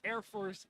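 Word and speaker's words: ER-Force: so indeed, RoboSyn is getting some final practices in, and I get the confirmation from Mike that Air Force is the correct way to pronounce it.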